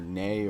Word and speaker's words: Nei: I actually like the whole series and like the character Nay or I pronounce it nay nei from the second game is one of my favorite characters of all time.